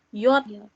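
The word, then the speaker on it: Jot: J itu yod. Oh, kita tulis sih yod gitu ya. Dibacanya yod. Hurufnya namanya yod. Dibacanya, teman-teman kalau ada huruf J, itu seperti huruf Y.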